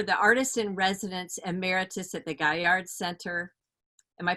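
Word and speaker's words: Gaillard: e tanky you're the artist-in-residence emeritus at the guy yard center am i pronouncing that correctly gilliard Gilyard you know which is there in Charleston you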